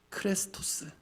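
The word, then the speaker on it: χρηστός: 그런데 말씀드린이 쉽고로 번역된 Hello 원어 발음이 이렇습니다 크레스토스 참고로 우리가 그리스도라고 읽는 그 단어의 헬라어 원어 발음이 크리스토스입니다 쉽고로 번역된 크레스토스와 실제로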